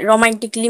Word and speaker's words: romantically: रोमांटिकली, रोमांटिकली में भी ROMANTICALLY, रोमांटिकली। यहाँ पर भी डबल एल वाई के आगे ए है तो ए यहाँ पर भी साइलेंट होगा।